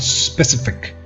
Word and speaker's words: specific: And then, like I said, the E over here is very short. Specific.